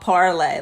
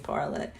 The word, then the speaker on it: Parler: I think they originally wanted it to be called Parlay, like in French, parlay, but I think they